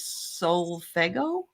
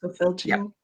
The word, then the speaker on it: solfeggio: Rossi says she sometimes sleeps with these solfego frequencies. Are you familiar with these? I think it's called solfeggio. It's Okay. pronounced solfeggio.